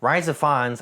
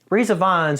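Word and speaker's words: Rhys Ifans: or three brief scenes that he was in Rise of Fons I think that's how you say his name wait for it re Ians there we go ree Ians who's pretty good in this movie plays CIA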